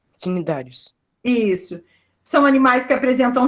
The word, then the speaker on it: Cnidários: Cnidários. Pronúncia. Quinidários. Cnidários.